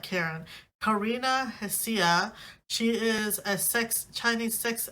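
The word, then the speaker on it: Karina Hsia: The H is silent. Karina, not Karen. Karina Hasia.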